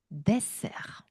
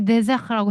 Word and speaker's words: desserts: 아, j'adore les desserts. Les desserts. 그렇죠. 발음 한번 해볼까요, 다시? J'adore les desserts. J'adore les desserts. 그렇죠. 만약에 데저트라고 해버리면 말 그대로 영어의 데저트가 됩니다. 그 사막.